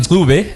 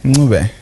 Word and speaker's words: Ncube: Our guest today, Ncube. Did I pronounce that correctly? No, good try. Listen how you said Ncube. Ncube? Yeah, good try. Ncube.